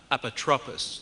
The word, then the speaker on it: Apotropis: say about a power of attorney or an Apotropis. Did I pronounce that correctly, Rabbi?